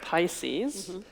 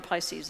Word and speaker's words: PISCES: The R in PISCES is silent.